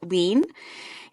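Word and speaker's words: Hlín: And another fun fact, the goddess that Freya in the book is named for or like given the blood to, Lin, it's spelled Hlin.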